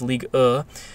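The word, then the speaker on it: Ligue 1: you read it in English however it is pronounced league as one is ill in French and it's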